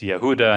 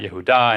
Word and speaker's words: Yehuda: and even, you know, the way that his name is pronounced by Israelis where the, it's Yehuda and not Yehuda, and it's, you know, even the H is missing.